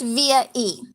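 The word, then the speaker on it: VIA-E: a dash e dot com um and it's pronounced via e and i get a lot of questions like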